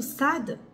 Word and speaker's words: ص: ça ça s'approche à sad en tout cas quand vous prononcez le SAD il est grave le SAD il pas dou alors quand je vais